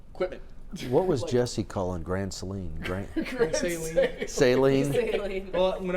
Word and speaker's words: Grand Saline: What was Jesse calling Grand Saline?